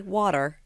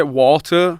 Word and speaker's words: water: Are you having to say water? I say water, but I pronounce the T. Obviously, if you're from Bradford, you say water. You know what I mean? Like, you don't even say the T.